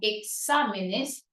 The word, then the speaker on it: exámenes: y de Espécimen especímenes Pero eso no pasa con exámenes que en su plural decimos examen exámenes la sílaba tónica sigue siendo exam no ha cambiado la sílaba tónica pero